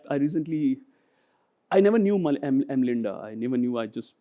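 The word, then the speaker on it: Mlinda: Um M Linda is pronounced as m l i n d a, not to be confused with BMGF.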